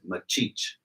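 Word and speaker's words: Maxixe: And the music box played was playing a machixe. She didn't pronounce it like that. She said machich.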